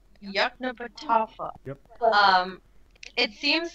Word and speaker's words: Yoknapatawpha: Yoknapatawpha. Yoknapatawpha.